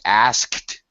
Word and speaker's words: asked: Many native speakers stretch the S sound and eliminate the T. He asked me a question. This is perfectly acceptable, really. Okay, proper pronunciation, yes, it should be he asked me a question. But the kt is hard to hear anyway. So it would be very common to hear the past tense pronunciation as asked.